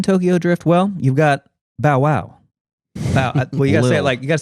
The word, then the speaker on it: Bow Wow: Drift well you've got bowwow well you got say it like you gotta say it like Snoop Dog Bow Wow B wow is bow B wow the inflection goes up on the Wow Bow Wow Bow Wow